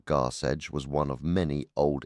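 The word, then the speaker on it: Garsecg: For instance, Garseg, pronounced Garseg, was one of many Old English terms for the sea.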